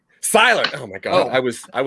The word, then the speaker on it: Seyler: Seyler. Oh my God, I was way wrong. I used to pronounce it Colby, but apparently I was wrong in that also.